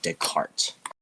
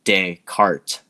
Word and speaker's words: Descartes: to his theory is his name which is sounds you know Descartes d e and then C A R T but it's spelled itself it would based on its spelling it would sound like desk um and he became